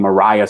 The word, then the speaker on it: Maria Stewart: right way described her woman named Mariah Stewart and it's Mariah wood spelled like Maria Stewart and in the early